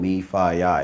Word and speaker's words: MEFIYI: to pronounce that but if you think fraternity its called me Phi I if you think fraternity